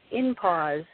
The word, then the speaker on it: INPAWS: at WWI mph org which is pronounced in pause org okay great and you